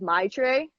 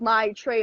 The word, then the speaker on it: Maitreyi: like the thing is I used to say my name is my tray that's okay say my train okay yeah like my tray of cookies that's what I say